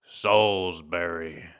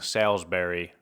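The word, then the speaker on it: Salisbury: Similar deal to College Barbecue in Soulsberry. I I was saying Salbury, like the way it's spelled, people were yelling at me. They're like, "You got to say Soulsberry."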